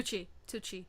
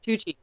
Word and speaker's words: Tucci: Tucci. Tucci.